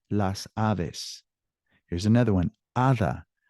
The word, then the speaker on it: hada: Hada. Hada's with an H, but it sounds the same.